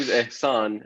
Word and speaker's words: Ehsan: pronounce anything well like it's kind of kind of hard to pronounce the S is right after H so it like confuses everybody it's like oh that's spelled um name isan and the family name